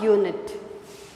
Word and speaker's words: unit: have to understand a unit the pronunciation is y so you have to write a unit a wonderful artist we